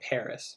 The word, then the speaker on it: Paris: you know you know english people they add up s and they say paris but a lot of people say perry everywhere around the world